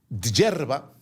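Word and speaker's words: Djerba: El caso es que los dos se escondieron en la isla de Hierba. Así se pronuncia, pero es con DJ JBA.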